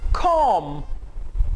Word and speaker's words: comb: बॉय, नो, बॉय, boy, bed, bed, baboon, baboon, boo-boo, boo-boo, comb, C-O-M-B। अब यहां पे हमारे पास कॉम्बिनेशन है M-B का। M-B में B साइलेंट होगा।